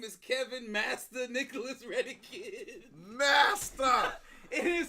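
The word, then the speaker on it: Mastah: Master. It is spelled M-A-S-T-A-H.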